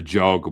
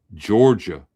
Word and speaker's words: Georgia: Why is it so hard for folks to say Georgia, beginning with the J, hence the Georgia? Spelling it how they pronounce it down there, how we pronounce it.